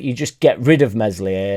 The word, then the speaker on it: Meslier: just get rid of mesli a silent s is mental to me